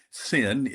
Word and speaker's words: Seine: Well, the Normandy, Paris, and Seine River cruise, and that is pronounced Seine River. It looks like Seine, but we pronounce it Seine, at least they do in France, is one of Will's and my favorite cruises.